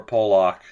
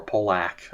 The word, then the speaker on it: Pak: Rodisloaf Pock Pak I don't like I've I've heard like Roman Pak for example his name pronounced both ways but when you say Pock it it just sounds like a slur it does Ratisf Pak Afflac is going to be our pick.